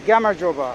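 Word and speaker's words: გამარჯობა: Also, if you're curious how to say hello in Georgian, it's Gamarjoba. It's really difficult. For me anyways, it's hard to say Gamarjoba. I feel like I'm messing it up every time. But that's how you say it.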